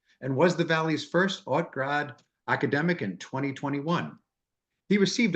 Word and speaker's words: Hauts Grades: It's Hauts Grades. It is French, much like the Scottish Rite.